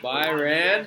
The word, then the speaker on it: Byron: Byron. Was with the hat? Like Iran. BYRON. Yeah. Palo Alto. Oh. It rhymes with Iran.